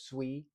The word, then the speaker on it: Sui: It's not pronounced sooie by the way. It's sui.